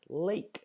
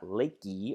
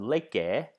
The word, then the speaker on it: lake: as in the word lake, lake. And remember, the E is silent, so we don't sound that one out. It's not lakey or lake, it's just lake.